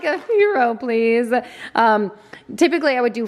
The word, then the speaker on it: gyro: I also got some gyro slices. Listen, try as I may to pronounce that. And everyone in the comments is always telling me the proper way. It's hero without the H. Gyro.